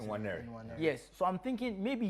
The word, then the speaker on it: Nwaneri: Ethan Nwaneri, is that how you pronounce it? Nwaneri.